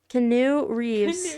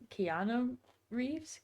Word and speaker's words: Keanu Reeves: And by the way, I don't think going to mispronounce this again. Canoe Reeves.